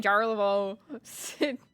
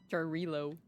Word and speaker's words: Jarilo: I was saying Jarlavo. Like, I've been saying it wrong the whole time. Jarilo.